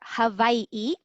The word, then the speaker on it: Hawaii: I'm based in Oahu, in Hawaii, or how they pronounce it here, Hawaii.